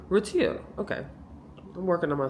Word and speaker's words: Retiro: be the Retiro or Retiro how would you pronounce that Mario? r e t i i r o Retiro okay.